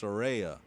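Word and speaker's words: Saraya: to correct myself it's she actually says it's pronounced Soraya um yes yeah so uh my my mistake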